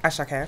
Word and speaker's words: Asake: So it's Asake, yeah? Asake. Okay, cool. Ashake, if you're gonna say it properly.